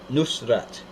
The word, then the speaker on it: Nusrat: version yeah most won't use today and Aramaic pronounced Nusrat meaning the Victorious or of the town of